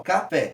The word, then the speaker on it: café: Quando eu digo, café, pode ver que em relação do K pro Fé, a gente tem uma ascendência pro Fé. Então o Fé é a sílaba tônica, a sílaba que se destaca. Ela que tem uma intensidade maior e a gente vê que ela é aguda. Café.